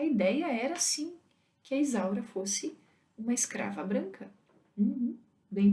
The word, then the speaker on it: Isaura: As pessoas corriam atrás dela na China, gritando: Isola, Isola, Isola, Isola, Isola, porque eles não conseguiam pronunciar Isaura.